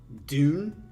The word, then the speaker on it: Dvne: by i'm not even okay pronounced dune it's dvne that's a weird way to pronunciate dvne dune okay a mega server by